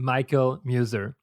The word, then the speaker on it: Michael Muser: and my guest today is no other than michael muser michael is that the right pronunciation it is perfect okay michael muser is